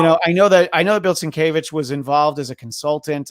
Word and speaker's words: Sienkiewicz: But McLeod is very easy, and they just And Sienkiewicz is hard to spell and it's hard to say. I was interviewing Claremont once, and I called him Sankiewicz, and he did not let that stand.